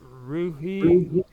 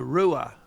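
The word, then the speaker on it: Ruhe: say your last name rui rui or Rue well we just say Ru although the German pronunciation is Rua but we just say Rue in English okay so ruer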